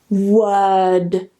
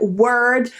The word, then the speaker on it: word: some sounds around it now that final sound word word word now if you want to pronounce it with the r and say something like word that's fine people will understand you it's just